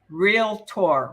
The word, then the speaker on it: realtor: which of the following May associate his or her name or title with the term realtor remember it's only two syllables real and Tor realtor we will be real